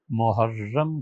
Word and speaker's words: محرم: چاہیے۔ ان مہینوں میں پہلا مہینہ محرم کہلاتا ہے اور را کی شد کے ساتھ ہے، اور دوسرا مہینہ